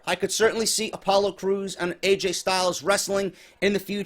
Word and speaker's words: Crews: You got fucking Daniel Bryan mispronouncing his last fucking name, Creed, and not Crews.